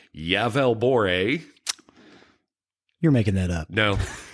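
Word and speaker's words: Gävleborg: l e b o r g but it's pronounced yavel bore you're making that up no no cuz I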